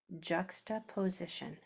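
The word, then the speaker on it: juxtaposition: That s is making its vibrating sound because the letters after it and before it also vibrate. Z i Z juxtopos juxtoposition juxtop position let me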